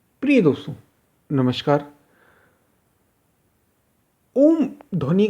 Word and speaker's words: ओम: उ म ही है इसलिए अ उ और म ऐसा इसका उच्चारण है ध्वनि का उच्चारण ही इस प्रकार लेकिन हम ओम कहने लग गए एकदम ओम ओम ओम ओ और म कहने लग गए जबक अ उ और म इन तीन शब्दों से मिलकर उच्चारण इसका होता है इसकी विशेष बात यह